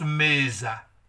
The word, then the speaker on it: mesa: je suis mais ça on prononce mesa nom féminin je reprends